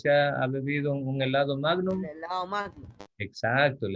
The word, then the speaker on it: magnum: Entonces, la palabra magnum viene justamente del latín. En latín no se pronuncia magnum, sino magnum. Y bueno, significa grande.